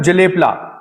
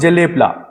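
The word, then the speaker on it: Jelep La: पास के बारे में लिख लेते हैं मैम जेलेपला नेक्स्ट पास जेलेपला जलेब की स्पेलिंग है जे ई जे ई एल ई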